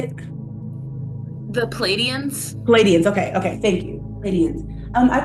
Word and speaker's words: Pleiadians: Pleiadians.